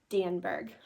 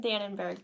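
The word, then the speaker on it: Danneberg: her name wrong forever it's Julie danberg I've been saying danburg so last day Blues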